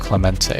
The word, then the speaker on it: Clemente: taking a look at I think it's pronounced Clemente thank you Robert Clemente Bridge showing that I